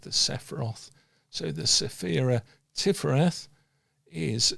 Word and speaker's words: Tifereth: And we interesting enough pronounce that tifereth because it's a hard T at the beginning and a soft th at the end even though it's a